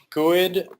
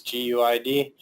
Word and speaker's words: GUID: GUID or GUID, pronounced by a lot of tech people as GUID, but fallback pronunciation is GUID. No one will be confused if you say that.